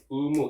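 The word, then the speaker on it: 有無: Nah, teman-teman ini kalau nggak tahu bacanya, umu ya.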